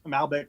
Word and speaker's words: Malbec: I have the skeleton the the Malbec I'm pronouncing that correctly right yeah that's Malbec Malbec a Malbec yes this is an Argentinean